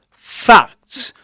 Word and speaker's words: facts: And um yeah, apart from the fact that he was apart from the facts, facts rhymes with the word cat.